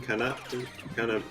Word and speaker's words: canapé: When President Barack Obama served smoked duck poutine canapé, I have no idea how to pronounce it.